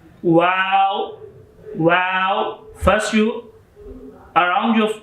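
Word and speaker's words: و: Next letter is wow. Wow. When you are looking a beautiful thing, so you sing in English language wow. Same sounds, but this is a little bit longer sound. Wow.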